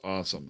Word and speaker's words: OSOM: I'm not the best speller in the world, but his awesome is an acronym OSOM. It's just pronounced awesome.